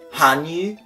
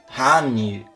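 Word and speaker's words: 汉语: Você vê que esse yu que eu falo é um yu, então a gente tem que passar essa pronúncia também. Então seria basicamente Hanyu, Hanyu.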